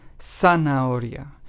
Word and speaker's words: zanahoria: And zanahoria, which means carrot, is pronounced as zanahoria. So as you can hear,